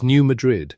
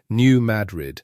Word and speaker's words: New Madrid: It is New Madrid with the weight landing hard on that first part, New Madrid, a plain American frontier pronunciation for a plain American frontier town.